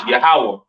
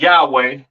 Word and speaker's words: Yahawah: so on right so the lord's name is yahawah not y yahwa or or not Yahweh all right yahawah to the left